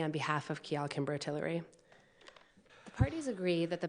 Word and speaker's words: Tillery: come on versus kimbrough tillery so by the way is it is that how it's pronounced hillary yes that's what i thought it